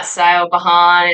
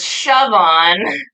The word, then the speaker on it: Siobhan: Eventually, at the top of my presentation, you're going to see how my name is spelled, and it's Siobhan. It is not Siobhan, it's not Stephen, it's not Chevron, it is Siobhan.